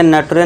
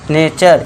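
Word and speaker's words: nature: दिया ने इसके बाद टी के लिए च कर देना है इसके बाद आर का साउंड इसी में आ जाता है ठीक है दोस्तों तो इसमें क्या होगा नेचर इसे नटरे नहीं पढ़ना नेचर इस तरह इसे क्या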